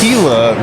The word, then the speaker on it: Gila: great event at the Gila River Resort I keep saying gilas is spelled g-i-l-a but it's Gila I'm from Brooklyn I